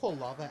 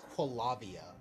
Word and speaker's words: Quava: I had a friend years ago, he pronounced Quava as Quavia. I'm like, how do you screw that up? It's literally Quill and lava. Like, come on, man.